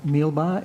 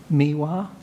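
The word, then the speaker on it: Meewah: Remains the interest in involvement in the management of Mealbar. It's actually Miwa. And just a small but important correction to the name. It's spelled M-E-E-W-A-H is my understanding of it.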